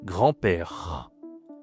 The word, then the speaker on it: grand-père: Mon grand-père ici, attention, on dit pas grand hein, comme en anglais, on dit grand. Tu ne dis pas le D, hein, pas grande. Non, grand parce que grande, c'est le féminin.